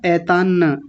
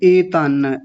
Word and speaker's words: एतान्: आपने बोला ऐतान्न, ऐतान्न नहीं एतान्न। ए आपको पहले भी बताया था एक दिन, मुझे याद है। ए फॉर एप्पल वाला ए बोलेंगे, एतान्न।